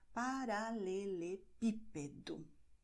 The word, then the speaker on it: paralelepípedo: For instance, when you say cobblestone in Portuguese, you say paralelepípedo. It's very long. Most Brazilian words aren't that long, but here you see that the acento is in P, so you stress it. Paralelepípedo.